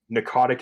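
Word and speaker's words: Pnakotic: the narcotic manuscripts um narcotic is spelled p-n-a-k-o-t-i-c there's a silent p at the beginning did not expect that p-n what p-n-a-k-o-t-i-c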